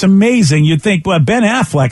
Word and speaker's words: Affleck: in any motion picture Ben Affleck be an Affleck my fault sorry about that b Ben Affleck